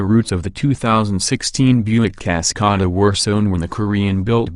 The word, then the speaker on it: Cascada: The company is trying to do the same thing for the 2016 Buick Cascada, pronounced Cascada, waterfall in Spanish, a truly international four-seat convertible.